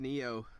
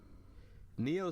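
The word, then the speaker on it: Nioh: The PS4 exclusive Neo, not PS4 Pro, but Neo. Right. Spell it out.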